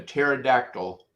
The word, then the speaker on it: pterodactyl: Why can't you why can't you know when a pterodactyl is using the bathroom? Because the P is silent.